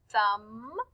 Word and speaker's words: thumb: But when we hear the word thumb, we just hear So look for words that have those digraphs in the word.